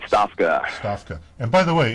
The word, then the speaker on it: Stofka: let me get your name exactly right it's it's spelled uh stofka right Stafa Stafa and by the way if you would